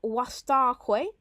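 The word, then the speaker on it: vastaque: So there's that contrast there of wastaque, V. In Latin, it's W. Well, you pronounce it W.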